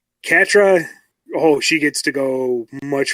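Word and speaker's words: Catra: Also, arguably, Katria is going to be your favorite character because she has the best story arc. Oh, yeah? Excuse me, Katra, yeah. I keep wanting to add that extra syllable.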